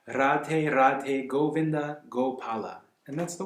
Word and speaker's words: Radhe: done with in Hindi, to my best of my knowledge, it's pronounced with a roll, just like, sort of like in Spanish a little bit, like right? Radhe Radhe Govinda Gopala.